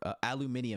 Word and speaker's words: aluminium: stuff like that, and he says aluminum, or aluminium. He says aluminium, and then Andy is like aluminum, you know, to say how they say it in America.